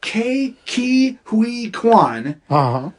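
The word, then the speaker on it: Ke Huy Quan: yeah and that and I always pronounce his name wrong it's key Ki Hui Kwan for everything everywhere all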